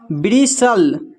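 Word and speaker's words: bristle: तो अब देखिए यहाँ पर TLE एक साथ है, यहाँ पर भी टी साइलेंट है, तो इसको पढ़ते हैं ब्रिसल, इसको पढ़ते हैं कसल, इसको पढ़ते हैं हसल।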